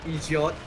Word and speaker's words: Egypt: We will pronounce it as Egot. Egypt. Yeah, it's definitely that's definitely an Irish thing.